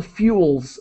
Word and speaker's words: fuel: And fossil fuels, the word fuel begins with the sound of the word few.